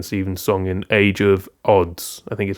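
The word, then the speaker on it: Adz: song in Age of Odds I think is how he wants it pronounced. Okay. Um age of this is the age of odds. Odds somewhere in the middle almost like a U.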